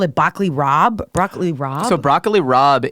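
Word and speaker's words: broccoli rabe: very differently and so the B is actually Southern Italian affectation the same reason capaca becomes Gaba goul so that's why we call it broccoli Rob it's really funny interesting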